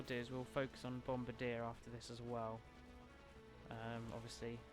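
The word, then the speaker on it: Bombirdier: it's a bird and it's a bombardier like Brigadier that's what it's based off of so instead of Brigade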